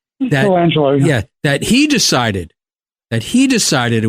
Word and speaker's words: Colangelo: Is that how you pronounce his name? Colangelo, yeah.